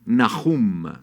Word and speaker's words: Nahum: yahwe luego sigue naum Cómo se dice en hebreo nahum naum que significa confortador confortador